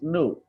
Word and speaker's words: knew: this is pronunciation U. It's not E. It's new.